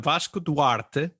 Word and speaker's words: Vasco Duarte: quick yeah so I'm I'm vas DTE uh and obviously nobody pronounces my name like that just like I never